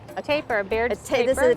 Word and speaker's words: tapir: So this is a, how do you pronounce? A tapir, Baird's tapir.